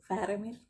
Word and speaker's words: Faramir: I forgot how to pronounce his name. Is it Faramir or Faramir? Faramir, sorry about that.